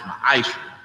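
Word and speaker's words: מעשר: Means tenth in the Hebrew and is pronounced ma'asher.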